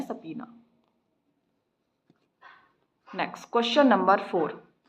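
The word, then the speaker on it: subpoena: इसकी प्रोनाउंसिएशन है सपीना।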